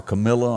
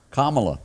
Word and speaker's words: Kamala: I mean, Joe Biden and Kamala or Camilla, or however you Camilla, how do you say her name? Kamala. Kamala is headed to the White House.